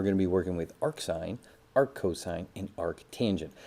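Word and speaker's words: arcsine: have arc sign so this is how you pronounce these as well you say arc sign Arc cosine or arc tangent and very often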